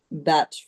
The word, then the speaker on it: Bach: And of course, um, you know, the batch flower, or Americans say Bach flower, but Yeah.